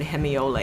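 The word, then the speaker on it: hemiola: and so that's basically what hemiole is, and it rhymes with guacamole, so I thought I'd do that.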